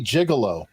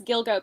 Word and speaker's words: Gilgo: beach I I I I keep wanting to say Gigolo I believe it's Gilgo Beach Joe's the expert come